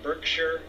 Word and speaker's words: Berkshire: pronouncing that right now John Baxter helped me out to let me know that the town's attended Shi r-e over an England or in the UK or not shire like I've been pronouncing it that it's sure so Heather thank you